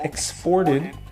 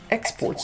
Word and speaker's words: export: on the second syllable exported and here when it's a noun the stress is on the first syllable exports so very often in